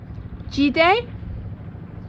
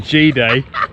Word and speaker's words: Cide: We have woken up here in the town of Gide? Gide, but it's spelt Side. But in Turkey the C is pronounced J, we think, unless it's got a squiggle, and then it's Ch.